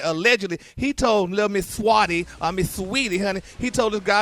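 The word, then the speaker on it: Saweetie: And here it is Juneteenth month, and he gonna offer Swati a niece $100,000 for a date. You talking about Sweetie? Yes, her name is Sweetie.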